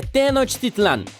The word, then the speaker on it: Tenochtitlan: É Tenochtitlan. E as cidades maias também são difíceis de pronunciar.